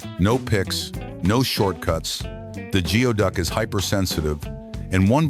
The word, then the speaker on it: geoduck: This is the geoduck, pronounced gooey duck.